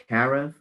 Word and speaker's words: Karav: Okay, last but not least, forgive me if I pronounce this wrong. Karav, K-A-R-A-V.